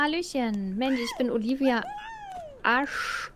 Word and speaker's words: Ash: Mandy, ich bin Olivia Ash. Wie wird das ausgesprochen? Ach, wie Arche Noah.